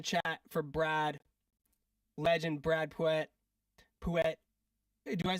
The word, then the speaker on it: Puette: legend Brad Puet. Puet. Do I say is just Puet? Yeah, Puet. Puet. Puet. Okay. Sorry. Like a little like a little church. Pew. Puet.